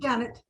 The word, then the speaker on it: Janet: you pronounce your name Janet Janet okay yeah I pronounce mine the same but obviously I have the Double T all right well it's